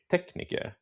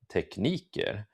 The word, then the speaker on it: tekniker: So this example will be this word, and I can say it like tekniker or tekniker, and the difference means different things. So if I say tekniker, I'm talking about the technician, but if I say tekniker, I'm talking about the techniques. So different things, um, um, depending on how I pronounce it.